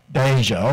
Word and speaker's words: Deja: groom Caroline Newton norisse they come in a mispronounces Donna Shepard a close well how do you say it deja okay congratulations deja vu my name is Mark